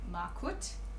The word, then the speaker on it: Markut: strand, in the shade Markut. I don't know how to say it. I just say Markut. I think that's right. M-A-R-K-U-T.